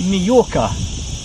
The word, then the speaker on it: Mallorca: a double l and in english you spelled the word with a a j but however you're spelling it you always pronounce it majorca so now we've got